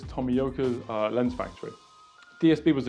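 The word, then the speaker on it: Tomioka: at yashika's Tommy yoka I think you pronounced it like this tomiyoka's uh lens Factory DSP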